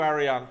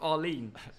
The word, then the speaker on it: Arlene: Thank you, Ariane. Thogden is clueless. That you said their name wrong. It's Arlene.